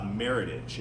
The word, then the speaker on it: Meritage: you're selling this to people um you know Meritage is how you're going to pronounce it um and you're going to be